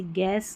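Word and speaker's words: guess: जी यू को ग पढ़ना है। ऐसे याद रख लें। जैसे गेस गेस्ट और गाइड।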